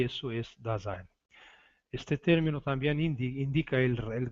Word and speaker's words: Dasein: Dasein, pronúncia alemã, Dasein, principal na filosofia existencialista de Martin Heidegger.